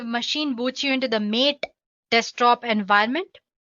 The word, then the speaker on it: MATE: boots you into the mate desktop environment let me pronounce it m a you can call it whatever you want mate or mate desktop environment so as you can